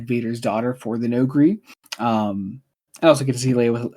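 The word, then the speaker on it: Noghri: The Nogri.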